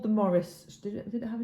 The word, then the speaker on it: Maurice: So William Maurice is Morris, and our granddad was Maurice, Maurice.